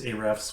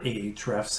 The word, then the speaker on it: Ahrefs: we use the service a-refs for some things or ahrefs as some people pronounce it um so that's